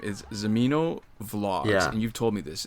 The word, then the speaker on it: vlog: so I'm looking at the name is Cimino vlog and you've told me this VL o G is pronounced vlog yeah cuz you've announced it like